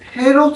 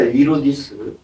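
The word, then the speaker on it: Ἡρῴδης: 히브리 발음이 제루바벨 성전이 그리스 그리스도 당시에는 헤롯 성전으로 계축되고 있었어요. 그 헤롯도 아니에요. 헤롯도 아니고 이로디스입니다. 이로디스. 헤롯이라고 하는 것은 라틴어 발음이에요. 로마. 로마 발음이에요.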